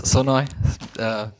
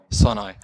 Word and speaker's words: Sonoj: Now you all know how it's pronounced. Actually, it's Sonoy. That's the one word. Sonoy.